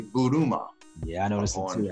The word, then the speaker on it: Buruma: I was saying Burma, Ian Buruma, but it's actually Buruma.